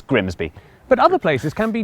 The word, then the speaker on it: Grimsby: But what if we told you it was pronounced Grimis? Yeah, I don't think that's correct. We'd be lying, it's Grimsby.